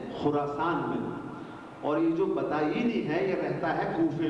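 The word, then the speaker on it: بطائنی: علی بن حمزہ بطائینی، جو صحیح عربی تلفظ ہے بطائینی، بے تو الف یہ نون یہ بطائینی، اس کا انتقال ہو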